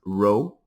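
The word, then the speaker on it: rho: Uh this is pronounced row.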